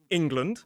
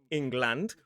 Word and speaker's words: England: So we have England, not England. We have Scotland, not Scotland. We have Iceland, not Iceland. There's even a place in England called Sunderland, which is in the northeast of England.